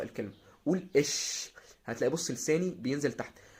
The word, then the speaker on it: ich: اللي احنا قلنا عليهم، نبدا ان احنا ننطقها زي ما بننطق الضمير الشخصي اللي هو انا. اش.